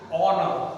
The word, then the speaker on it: honor: Here, in this noun, H is silent.